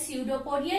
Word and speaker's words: स्यूडोपोडिया: Named as स्यूडोपोडिया, ये P silent है।